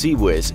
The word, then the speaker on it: CIWS: Designed to destroy incoming sub and supersonic missiles, a Phalanx CIWS (pronounced see-whiz) is more than capable